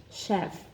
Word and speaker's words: chef: more difficult there are a couple of words that are spells with ch H and are also pronounced with the sh sound was the L sh chef and the and the